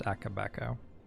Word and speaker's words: Akabeko: It's pronounced Akabeko.